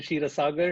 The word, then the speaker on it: Kshira Saagar: good thank you so much my name is Shira sagar it spelled like this the reason I put it out